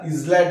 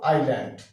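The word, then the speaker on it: island: বলবো না কি বলবো আইল্যান্ড আই ল্যান্ড ঠিক আছে আই আবার দেখা যাচ্ছে এখানে এ আই এস এল ই ঠিক আছে এল এর উচ্চারণটা হচ্ছে এল এস এর উচ্চারণটা আমরা নিব না এল এর সামনে আছি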